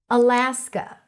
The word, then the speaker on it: Alaska: Alaska. Stress is on la.